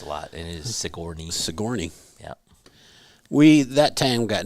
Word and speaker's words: Sigourney: Denise says Sigourney is also mispronounced a lot, and it is Sigourney.